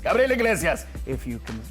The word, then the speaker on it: Gabriel Iglesias: This is Gabriel Iglesias. Why is he saying his name like that? Because I can say it right. It's Gabriel Iglesias, but it's Gabriel Iglesias if you can say it like that.